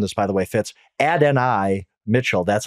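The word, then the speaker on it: Adonai: I I learned this by the way Fitz ad n i Mitchell that's how he pronounces it I look he's a boomer bus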